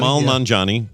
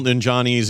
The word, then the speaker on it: Nanjiani: Yeah, Kamal Nanjiani. Nanjiani.